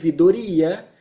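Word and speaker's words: ouvidoria: eso crearon este ombudsman que en portugués se pronuncia idoria y la mejor traducción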